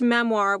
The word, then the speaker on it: memoir: She pronounced memoir with a soft R, memoir, and talked about hers constantly.